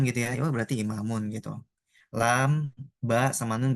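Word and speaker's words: إمام: Nih, misalkan kalau ada dal, lam sama kaf, oh bacanya dzalika. Kayak gitu. Ada hamzah, mim, kemudian alif, mim, imam gitu ya. Oh berarti imamun gitu.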